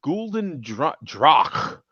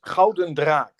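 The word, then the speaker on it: Gulden Draak: Ooh, Gulden Drach. How do you say that, man? Did I do it right? In Dutch or in Dutch? Yes. It's Gouden Draak.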